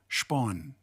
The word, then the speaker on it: Spahn: made by max spahn i heard him pronounce it and he pronounced it spawn is that right spawn max spawn is